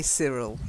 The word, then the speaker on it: Cyril: And then Cyril is his name. I know it's a Y, but we say Cyril, okay?